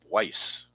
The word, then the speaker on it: Buice: And Dwayne Miami Bice or Miami Vice the U is silent.